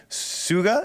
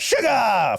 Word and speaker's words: Suga: solo on August sugar it's like uh it's like when when um system moved down a system of a man pronounces sugar yeah that's why I'm